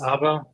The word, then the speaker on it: Arber: So hi there, my name is Arber. In Albanian, it's pronounced Arber, just to confuse the audience a little more.